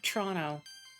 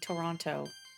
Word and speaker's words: Toronto: If you're from there, you say more like Toronto versus saying Toronto.